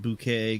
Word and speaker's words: Bucket: sign up for breadbox hyacinth bouquet bucket pronounced bouquet goes to incredible lengths